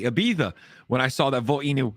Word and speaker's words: Ibiza: Ibiza and I got to say it correctly Ibiza when I saw that volino got listed on